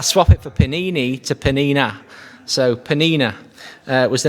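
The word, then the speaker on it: Peninnah: hannah the name of the other was penina penina that's how you say it when i was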